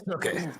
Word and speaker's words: Snooki: it's Snooki.